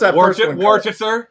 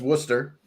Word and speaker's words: Worcester: there you go so what's warer warer that's Worcester uh all right let me